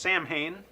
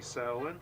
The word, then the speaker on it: Samhain: shawn so it looks like it should be pronounced samhain yup but it's actually saline all right that's how it starts kind